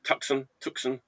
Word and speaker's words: Tucson: Did I pronounce that right? Tucson, Tucson, Arizona.